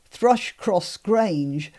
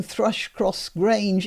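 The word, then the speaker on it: Thrush Cross Grange: That's not how it would have been pronounced in Yorkshire. In Yorkshire, remember, all the vowels are down. And Thrush-Cross Grange, pronounced in a local way, would be Thrush-Cross Grange, which is really easy to say.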